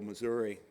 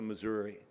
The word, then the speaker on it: Missouri: from him later because it is not the Missouri it is the pronounce it for me will you Mike it's the the mura this is the USS Missour and if I use